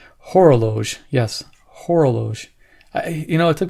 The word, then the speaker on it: Horologe: do the final thoughts on the yeah this pronunciation horloge yes hora Loesch i you know it took me a while